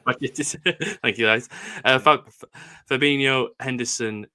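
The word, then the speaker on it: Bajčetić: It's Stefan Bajcetic. Bajcetic.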